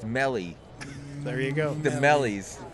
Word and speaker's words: mello: Spang has corrected us the eye sounds like an e like in C so it's Melly there you go the